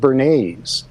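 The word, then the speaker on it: Bernays: of modern public relations whose name was Edward bernes uh not spelled like the sauce b r n a Ys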